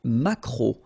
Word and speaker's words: maquereau: t, la truite, le maquereau, so technically this K, just pronounce it K, mac, maquereau, maquereau, alright, and then E, A, U, remember when you combine these three vowels, you get the sound O, maquereau, okay, and then